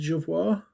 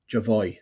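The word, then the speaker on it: Jovoy: did i get the sample from was it javoir maybe javoy apparently that's how you that's how you pronounce it apparently i've been i've been corrected so i bought a few samples from javoy i'm loving samples at the minute i'm big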